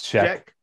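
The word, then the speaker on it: Zschech: darlene is that sick it's check it's check even though it's okay yeah darling it's spelled like dz sch or something like that but darling check yep yeah shout out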